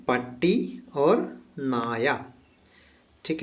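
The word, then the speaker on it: നായ: ठीक है, तो मलयालम में पट्टी को दूसरा एक और शब्द कहते हैं, ये है नाया। ना या, ठीक है ना, पट्टी नाया।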